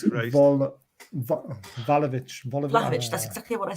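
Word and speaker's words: Vlahović: Volovic isn't coming, guys. I've been told. Who? Volovic. Volovic. Volovic. How I'll do you have a pronounce couple his of name? Volovic. Bill, Volovic. How you pronounce it? Vlahovic.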